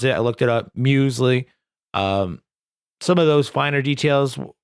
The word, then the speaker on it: Muesli: like Alec and Muesli, and that's how you pronounce it. I looked it up, Muesli.